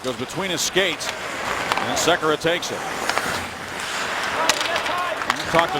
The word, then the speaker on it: Sekera: Sekera, we call you Sekera. He said, you can call me whatever you want. I said, how do you pronounce it in your house? He said, Sekera. So we'll go with that.